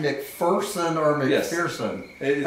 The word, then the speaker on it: McPherson: It's McPherson. I've been doing it. McPherson, technically, but I grew up pronouncing it McPherson, pronouncing it incorrectly, McPherson.